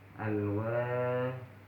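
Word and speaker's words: الواحد: Terus selanjutnya contoh huruf yang lain di sini al-wahidu. Al-wahidu. Di sini alnya juga dibaca terang. Kenapa? Karena di sini al bertemu dengan waw. Sedangkan waw di sini adalah huruf qamariyah, maka cara bacanya terang.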